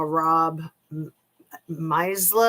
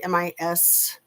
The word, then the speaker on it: Misleh: movie that the brother-in-law, Rob Misla, I think is how you say his name. It's like Misleh.